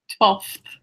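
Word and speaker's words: twelfth: 12th. Does anyone actually pronounce the F? Because I just say 12th. 12th. Like with no F.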